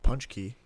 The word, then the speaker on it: Pączki: It also makes sense that nobody can pronounce Jan Blankowicz's name right, because this is spelled as Pączki, but it's pronounced Pączki.